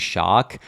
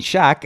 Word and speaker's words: Shaq: popular in the us i used to say his name is shark until one day someone called it out for called me out for and i was like what are you saying man they're like well who's shark i'm like shark the basketball player and they're like what you mean shaq and i'm like oh